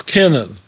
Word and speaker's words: Kiernan: But you pronounce it differently. You say Kiernan. It's Kiernan. It's Kiernan. Kier, like Kier with a R.